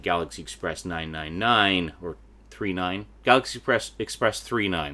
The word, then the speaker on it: Galaxy Express 999: Galaxy Express 39, that's how it's pronounced.